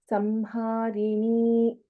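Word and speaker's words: संहारिणी: So here, Anuswara is before Ha and it is Samharini. There is no question of here. Samharini is the correct pronunciation here.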